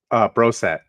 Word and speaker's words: Brossoit: Laurent Brossoit? Brosset. Brosset. Yeah. See, that's easy to remember.